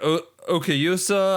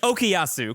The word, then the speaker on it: Okuyasu: But like, Rohan's great, Koichi's great, Josuke's great, Okayusa, I just butchered that name. Jackson, please correct me. Okuyasu, close enough.